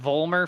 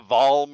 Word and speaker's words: Vulner: Mr Jason needs clarification is it vulner for your last name pronunciation that is correct that is the first time I've heard somebody say it correctly correctly is it pronounced how can you pronounce it incorrectly a vulma or vulmar or whatever I've heard all kinds of different ways but you're the first one to hit vulner that's what it is vulner it's a w baby